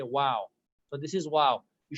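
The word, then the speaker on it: واو: Wow is not wav. Usually people pronounce it as wav. They either join their lips or they join their like upper teeth to the lower lips.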